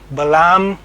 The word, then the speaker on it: Balaam: by the name of Balum. Now you might hear his name pronounced in a number of different ways. You might hear Balam or something else.